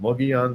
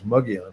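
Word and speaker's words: Mogollon: One's called Mugion, which is uh doesn't look like it's spelled that way, but it's Mugon is how you say it.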